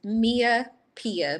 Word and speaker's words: MiaApiah: So on TikTok and my regular Instagram, it's Mia Pia, but it's not spelled that way. It's spelled MIAAPIAH.